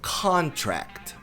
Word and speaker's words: contract: mas a sílaba tônica dessa palavra é o cá Essa outra sílaba, o tract, mas não tão forte. É o que a gente chama de subtônica. Con é tônica e o tract é subtônica. Ela também é forte, mas fraca que o con. Então é contract.